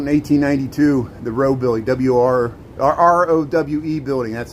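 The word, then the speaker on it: Rowe: South Dearborn Street, Printers Row, South Loop of Chicago.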